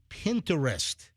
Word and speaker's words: Pinterest: It's like interested. Nobody says that. It's Pinterest. It's not Pinterest. It's not Pinterest. Nobody says Pinterest. So why it's not a 3-syllable word.